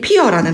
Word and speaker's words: 피어: 자, 이 피어라는 단어는 이어든 피어든 되어든 원칙 발음은 피어 이렇게 정확하게 발음을 하는 게 맞습니다.